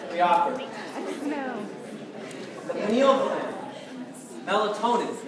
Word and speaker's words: melatonin: we offered any open melatonin is what I want to make sure you pronounce correctly melatonin because it's not melanin or melanic what was melon